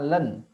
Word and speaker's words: ln: logaritma asli itu disimbolkan dengan LN yang bacanya Land fungsi logaritma asli tulen